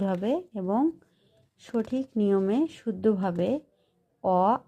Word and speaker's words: অ: তো এই স্বর অকে আমরা এভাবে উচ্চারণ করব, স্বর অ, অ।